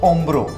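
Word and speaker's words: hombro: मैंने आप लोगों को बताया था कि एच हमेशा साइलेंट रहता है, तो ओम्ब्रो, अल ओम्ब्रो लिखना पड़ेगा बट एच साइलेंट रहेगा।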